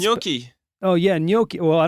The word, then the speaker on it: gnocchi: It's spelled with a G. Then we're gonna move on. Then we're gonna move on from that Thank one. you. This will be the last. It's gnocchi.